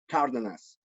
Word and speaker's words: Cardenas: Tell me how do you pronounce your name again? Cardenas. Cardenas. Okay, Cardenas.